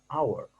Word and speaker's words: hour: anyway it is silent when H is silent then it comes with n for example we don't we don't say n Howard we say an hour this Aitchison this patch